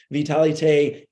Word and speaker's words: Vitalité: The French pronunciation, Vitalité, is a product that contains 4 capsules, powdered capsules that are all the same.